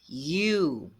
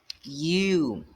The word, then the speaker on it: you: Cariol você vai falar e eu a forma correta de se falar é e eu e Resumindo fica assim